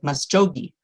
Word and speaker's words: Muscogee: Um, but the C sound in the Greek language is usually a CH. So when you see Muscogi spelled with a C and you're thinking about the Muscogi language, it would sound like Masogi.